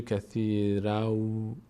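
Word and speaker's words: كثيراً ويهدي: که حرف بعدیش هست میشه کثیراو کثیراو و یهدی اینجا که دیگه نمیگیم کثیراً به جای نون واو تلفظ می‌کنیم تا مشابه پیدا کنه به حرف بعدیش به خاطر قاعده ادغام در یرملون کثیرا و یهدی بهی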